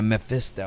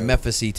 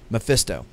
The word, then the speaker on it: Mephisto: say the guy's name meh meh festa yeah Mephisto I always want to say Memphis eat oh that's how i pronounced it in my head as a kid mmm Mephisto yeah and there is a time in the